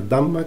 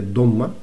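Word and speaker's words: ضمة: Entonces sería bal y después vendría q, porque aquí al tener una dhamma, que se pronunciaría realmente dhomma, una dhomma, u, que es una U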